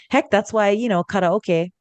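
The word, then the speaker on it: karaoke: that's why you know karoke yes that is how it's um supposed to be pronounced everybody um is Japanese um so that's why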